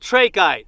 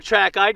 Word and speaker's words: trachyte: And this one is called trachyte, or trachyte, depending on how you wanna pronounce it.